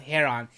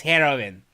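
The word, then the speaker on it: heron: is saying okay look it's not hair on it's heroin that's the heroin birth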